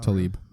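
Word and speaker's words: Tlaib: TB Talib TB Talib are you sure that Rashida Tali or is that spelled wrong in CNN nope that's how it's pronounced Talib yeah they uh and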